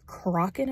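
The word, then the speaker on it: Crochan: Because in the audiobook it's Crokin, apparently. I bought the audiobook so that I could listen to it while I'm in the car in between going to work and stuff, but I've been pronouncing it wrong the whole time.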